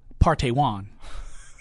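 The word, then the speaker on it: Park Tae-hwan: It's Park, P-A-R-K. Right. T-A-E-H-W-A-N. It is pronounced Partey Wan.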